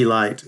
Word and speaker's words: Elite: for years to come he named them the elite Giants yes it's spelled EIT T but it's pronounced Elite Nashville